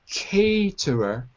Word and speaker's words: caterer: Also, pronunciation of caterer. It's A like snake.